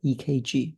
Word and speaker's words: ECG: the E EKG uh is written as ECG but everyone pronounce it as EKG means c means cardio